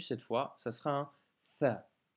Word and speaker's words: ث: fois, ça sera un Tha. Pour la prononciation, cette fois, à ne surtout pas confondre avec un F de la lettre Fa, car ça, c'est vraiment une autre lettre.